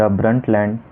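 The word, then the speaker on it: Brundtland: उस रिपोर्ट का नाम है द ब्रंटलैंड report B आर यू एन डी टी एल ए एन डी। यहां पे डी साइलेंट है।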